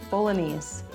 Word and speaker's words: bolognese: The penet bolognese or bolog How do you say that? Hey, it has parmesani. Woohoo! Bologanese. The G is silent.